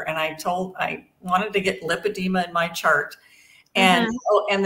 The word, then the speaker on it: lipedema: And in the United States, it's pronounced lipedema. Mm-hmm. Right now, it might be pronounced different in Europe. I think they have an O in it.